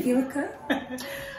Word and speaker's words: Wilka: It's actually Wilka. Oh yeah, it's German.